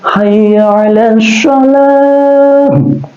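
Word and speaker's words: حي على الصلاة: Ada al-samsiyah atau idgham samsiyah pas azan itu ya, tulisannya betul ya, hayya alal sholah tulisannya, tapi itu idgham samsiyah ya, dibacanya kan hayya alal sholah.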